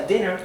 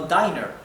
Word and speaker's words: dinner: ¿Por qué sabemos que se pronuncia dinner y no diner? Porque tenemos una doble N. Recuerden que cuando la I está seguida por una doble consonante, adquiere su pronunciación corta. En vez de I es I. Dinner.